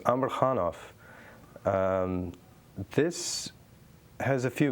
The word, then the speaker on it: Amarhanov: her name amarhan uh the last name is pronounced Amar khanov um this has a few meanings to me